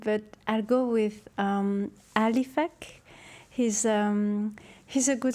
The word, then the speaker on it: Alif: not alif alif a a l i f a k alif so his name is Alfred but alif is the greenlandic way of pronouncing so it became his